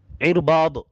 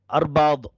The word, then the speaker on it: இர்பாத்: கணித்திற்குரியவர்களை, இந்த ஹதீஸை அறிவிக்கக்கூடிய சஹாபி இர்பாத் இப்னு சாரியா, இர்பாத் இப்படி தான் அதை உச்சரிக்க வேண்டும். பொதுவாக முஸ்லிம் மக்கள் இந்த பெயரை அர்பாத் அப்படி உச்சரிப்பார்கள், அர்பாஸ் என்று எல்லாம் சொல்வார்கள், அது தப்பான உச்சரிப்பு.